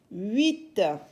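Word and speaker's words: huit: e P t 7 8 h qui est une lettre muette u i t u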